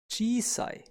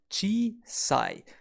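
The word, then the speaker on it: 小さい: the short small skis kun reading for small is gsi and we can memorize GSI through following example sentence the tried says gee sigh the child says it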